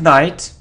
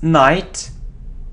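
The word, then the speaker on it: knight: okay so next so it isn't knite it's night like knife yeah you know that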